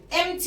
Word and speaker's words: empty: empty فارغ، empty البي هنا silent.